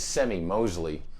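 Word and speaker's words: Semie Moseley: guitar builders andy and i believe you say his name's semi mosley they're from california these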